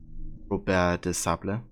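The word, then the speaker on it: Robert de Sablé: You love how his name is pronounced in AC1 Robert de Sable? Yeah. That would be the, I guess, proper French pronunciation or something.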